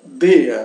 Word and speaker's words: der: Então, der se pronuncia der, né?